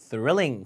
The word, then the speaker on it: thrilling: 있다 다 사합니다 thrilling 자 릴링이 아니라 thrilling 그 영화가 아주 스릴감